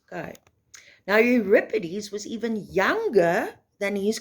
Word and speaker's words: Euripides: you'll see that it looks like europeanus it's pronounced euripides okay now euripides was even younger than his contemporary sophocles okay